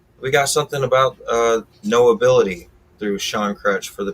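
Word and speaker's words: Know Ability: now on all platforms no ability is sean crutch's um brand that he represents is all about knowing that you have an ability so it sounds like no ability but it's spelt k-n-o-w ability so knowing you have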